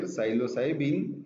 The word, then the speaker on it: psilocybin: And psilocybe mexicana is a mushroom whose principle is psilocybin. Psilo, P is silent here, psilocybin is a tryptaminergic compound.